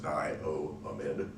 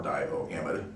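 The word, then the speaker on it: diamide: so it's butane diomede notice i o a all separate syllables there's pronounced dio amid or divo amide you sometimes see it pronounced dammit or mid okay let's do one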